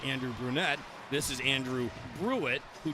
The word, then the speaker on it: Brunette: Andrew Brunette, actually the head coach for the Predators, pronounced Andrew Brunette.